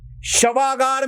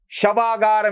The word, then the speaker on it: शवागार: Body आएंगी उनकी और शवागार में भेजा जाएगा उनको, शवागार में, ना कि सभागृह में। सभागृह का प्रोनाउंसिएशन और शवागार का प्रोनाउंसिएशन अलग होता है, इसीलिए मैंने आपको पहली बार धीरे से सुनाया था।